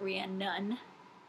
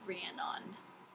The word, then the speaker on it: Rhiannon: Rhiannon is how I would pronounce your name. I know it's not Rhiannon. I'm very American, so I may pronounce it that way on accident. It's Rhiannon. Not Welsh, I'm sorry.